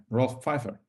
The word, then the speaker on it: Rolf Pfeiffer: Yeah, Rolf Pfeiffer. Pfeiffer. Think of Michelle, right? Oh. Not Michelle Obama.